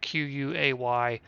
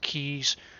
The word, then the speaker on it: quay: Quay. I've heard it pronounced keys on some sophisticated British fellows video, so I'm going to say keys.